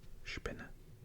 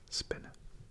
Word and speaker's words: Spinne: Or if there is SP, as in Spinne, which is spider, you would say spinne, instead of spinne.